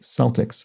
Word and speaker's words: Celtics: the shortened version celts here are pronounced with a soft c sound like celtics and salts so sorry about that i guess i mispronounced that um because i'm more familiar with celtic being pronounced with a hard c sound and uh speaking of